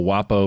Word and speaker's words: Guapo: I don't think a G is ever silent in Spanish. El Guapo means the handsome one, and it's pronounced Guapo.